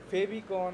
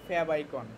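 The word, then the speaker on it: favicon: মধ্যেই আর এই জিনিসটাকে বলে ফ্যাব আইকন ফেবিকন অনেকে অনেক কিছু বলে ওটা না সুন্দর উচ্চারণ হল ফ্যাব আইকন এখন আমরা যদি এখানে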